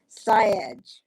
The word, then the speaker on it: Syed: Jameel Syed. Syed. Now, you'd think I'd know this correctly because I speak with him often enough, but I've never actually asked Dr. Jameel how he pronounces his last name. Syed.